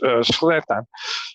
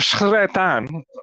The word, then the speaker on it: Sretan: the way I pronounce Sretan. It should be, the letter S and then a rolling R, but I can't do it.